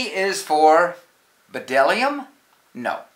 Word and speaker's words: bdellium: feast B is for bdellium no it's for Dillingham we doubt anyone knows what bdellium is but it's the only word dumb enough to begin with a silent B the fascinating Tsar is